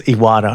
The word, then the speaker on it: Iwata: Most people just know you guys as Iwata, I'm sure. At least you're pronouncing it correctly.